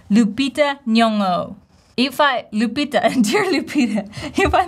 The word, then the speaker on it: Nyong'o: No, you want to say Nyong'o, Nyong'o. Lupita Nyong'o. Lupita, dear Lupita, if I mispronounce your name, let me know.